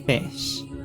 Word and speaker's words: Ghoti: will be calling them goatee even though the whole point of it is that it's pronounced fish oh and as a